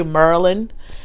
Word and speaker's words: Maryland: was born in Baltimore Maryland so I say Merlin like that's how you say it when you're from Merlin when you don't when you speak I guess he panics anyway it's a Maryland so what I that